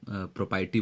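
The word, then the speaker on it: propriety: world आपका है प्रोपी इसे आप प्रोपति बोलते हैं यहां जो आर है वो साइलेंट है तो प्रॉपर्टी का मतलब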